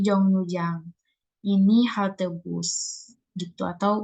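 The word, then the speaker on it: 정류장: Kemudian di sini ada Jongnujang. Ini dibacanya bukan Jongryujang ya, tapi Jongnujang.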